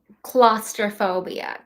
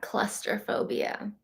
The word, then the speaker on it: claustrophobia: Yeah, not clusterphobia. Claustrophobia.